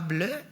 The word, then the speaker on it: BLEU: hoy que se llama ble se llama bleu o sea se escribe bleu como ble en francés son iniciales en todo